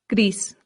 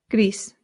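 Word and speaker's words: gris: Up next, grease. Grease. This sounds just like the English word grease, like the grease from a pan or like oil. Grease. But in Spanish, you have to slightly round that R.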